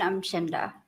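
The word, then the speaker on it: Umchinda: I'm Chinda. Will you spell that, please?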